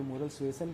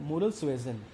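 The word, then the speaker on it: moral suasion: Second, इसका तो pronunciation ही बहुत महंगा पड़ता है बच्चों के ऊपर, कोई मोरल सुएजन कहता है, कोई मोरल सुएसन कहता है। इसका असली प्रोनाउंसिएशन है मोरल सुएजन।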